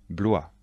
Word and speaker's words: Blois: chenonceaux et le château d'amboise attention de bien prononcer les noms de châteaux répétez après moi chambord le château de chambord blois le château de blois chenonceau le château de